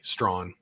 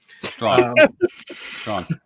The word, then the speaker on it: Strawn: That's how you pronounce his name, by the way. Strawn. Strawn.